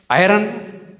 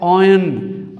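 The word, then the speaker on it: iron: मगर ये लफ्ज़ देखें ये कैसे प्रोनाउंस होता है, आयरन नहीं, ये लफ्ज़ प्रोनाउंस होता है ऑयन, हालांकि इसमें आर के बाद वावल भी है।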